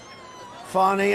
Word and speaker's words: Fani: fny it's spelled Fanny it's spelled Fanny like your ass right Fanny but when she became da she decided to add a little French a little fancy fny fonny and you know fonny